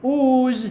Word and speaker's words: ooze: it is spelled so the word ooze here has got only two sounds but four letters what is the first sound ooh what is the last sound z okay so here in this